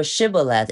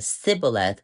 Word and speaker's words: Shibboleth: And for Shibboleth, if for someone they cannot pronounce it clearly, they say a Sibboleth, then so what is this talking about?